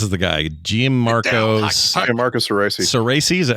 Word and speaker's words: Cerasi: Cerasi, is that how you say it?